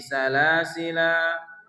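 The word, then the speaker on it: سلاسل: Salasila itu dalam surah Al-Insan ayat 4, maka ketika kita membacanya boleh dengan hadzf bil hadzfi, yaitu dengan menghilangkan alif ya, mensukunkan lam. Contoh salasil.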